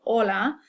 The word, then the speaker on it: hola: So when you see an H, you can pretty much ignore it as far as pronunciation is concerned. So, hola, hombre, almohada, which means man, hombre, and almohada is pillow.